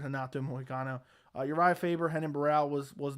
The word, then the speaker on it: Renan Barão: And Uriah Faber, Henan Barral. I mispronounced his name wrong. I almost said Renato Moicano. Uriah Faber, Renan Barão was not that exciting either.